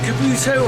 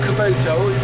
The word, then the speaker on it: Kubota: I didn't know, is it Kabuto or Kubota? Harry always picks me up on it for saying it wrong.